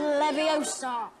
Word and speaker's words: Leviosa: be and what it wouldn't it would guardian leviosa stop stop stop you're going to take someone's